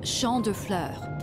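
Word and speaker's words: Champs de Fleurs: just like I imagine Champs de floors how do you say that it's Shand Flur it means Field of Flowers this is the place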